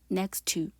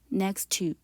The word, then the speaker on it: next to: 자, T와 T가 연속해서 나오죠. 그러면 한 번만 발음해 주시면 돼요. 하나 소리 없애고 next to, next to 이렇게 발음해 주시고요.